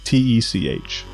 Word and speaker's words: Tortec: It's Tor. Tortech. Oh, okay, Tortec. Tortec. It's torrent technology.